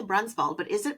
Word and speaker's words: Brunsvold: And you know, all this time I I always say Brunbald, but is it pronounced Brunswald or is it brunald?